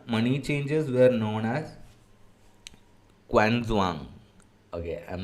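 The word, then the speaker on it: qianzhuang: the okay it's a it's two words Chun Jang China Chun Jang China but the it's not j i NG it's z h u Ng okay I can't use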